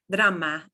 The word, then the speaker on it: drama: So that word drama, drama is a small R. That's a little trill. Okay. It is not like the strong or abra. Again, it's a little trill, abra. And it's a flip of your tongue back there.